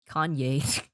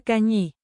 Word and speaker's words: cañí: How do you pronounce that? España Kanye. Need Google Translate. Kanye. No. España cañí.